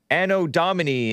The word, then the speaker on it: Anno Domini: Anno Domini is what I hear the correct pronunciation is.